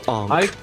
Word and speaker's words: Ankh: I've heard it pronounced both ways. Is it Ankh or Onk? Like so Onk. I call it Ankh.